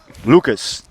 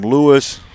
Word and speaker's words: Lucas: Not Lewis. Lucas. Called him Lewis.